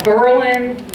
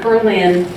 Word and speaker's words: Berlin: got camping you've got a whole bunch of examples where the accent is on that first syllable well some people think